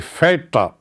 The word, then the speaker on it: Väter: Der Vater, die Väter. Umlaut is pronounced as Väter.